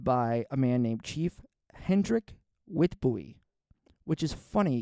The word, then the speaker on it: Hendrik: 1905 that's led by a man named chief hendrik wi buy which is funny because the name Hendrick is spelled Hendrick as in like the Swedish name